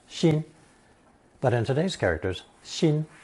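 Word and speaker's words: 辛: This lesson is the fourth installment introducing characters containing that ceremonial knife pronounced shin.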